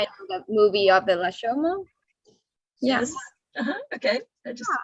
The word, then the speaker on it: Rashomon: Rashomon. Oh my goodness. Wow. Rashomon. Maybe the U sounds, long U sounds Rashomon.